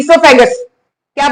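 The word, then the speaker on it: oesophagus: पे क्या बोल देंगे सोफे क्या बोलेंगे सोफैक ओ को साइलेंट रखो और ो फैग उसका नाम पढ़ना ठीक है कि नहीं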